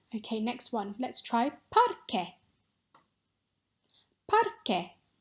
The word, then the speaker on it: parque: Let's try parque. Parque. So this one is just like porque, because, but with an A at the beginning instead of an O. The pronunciation at the QUE is the same.